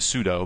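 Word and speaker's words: sudo: uh and it's it's people pronounce it pseudo but it stands for super user do and then you give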